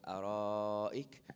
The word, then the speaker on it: الأرائك: You have here mad muttasil inside the word ara'ik. So you're going to stretch for 4. Ala al-ara'ik. Okay, so let's read that section. متكئين فيها على الأرائك.